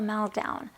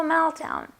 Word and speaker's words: meltdown: Next, there is a phrase, have a meltdown. Have a meltdown. And here there's a T and a D next to each other. So we're only going to pronounce the stronger sound, which is the D.